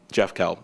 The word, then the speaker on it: Jeff Kell: doesn't know my name Jeff Kel excel with Jeff Kel you I mean come on it rhymes you guys let's see